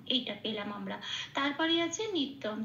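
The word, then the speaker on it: নিত্যং: আচ্ছা আচ্ছা বেদাশিনাম এইটা পেলাম আমরা তারপরে আছে নিত্যম ত জফলাতে একটু লাল দিয়েছি কারণ জফলা জ এর উচ্চারণ সংস্কৃতিতে হস প্লাস অন্তস্থ এক নম্বরে তালিকাভুক্ত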